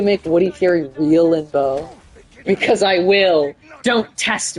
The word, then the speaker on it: Bow: It's B-O-W. It's pronounced like how you spelt it, but it's spelled like bow tie.